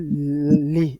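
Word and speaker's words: لِ: Et puis, lam est talil qu'on appelle li. On prononce ça li.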